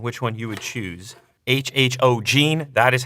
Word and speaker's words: HHOGene: the comments section which one you would choose HHO Gene that is how you pronounce the company name this is pretty cool